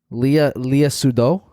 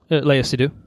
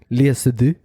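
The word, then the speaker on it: Léa Seydoux: Leah Sudol. Is that right? Did I pronounce that right? Close. Leia Seydoux. Seydoux. Leah Seydoux.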